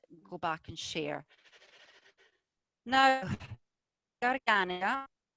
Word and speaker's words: Garganega: And now we'll get on with our Garganega, Richard. Yeah, so I always mispronounce it. I'm sorry about that. I know everybody does. Garganega is quite a natural. Garganega.